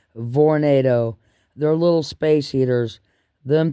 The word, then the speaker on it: Vornado: V instead of tornado they're pronounced with a V Vornado they're little space heaters